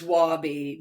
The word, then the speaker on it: Wabbi: it right is it Wabi because you say it simpar to Wasabi is it Wabi it's wobi not wasab does come from a Japanese concept but not Wasabi although okay spicy okay